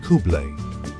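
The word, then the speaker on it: Khublei: Kubli, pronounced Kublé, is the universal word for hello, goodbye, and thank you.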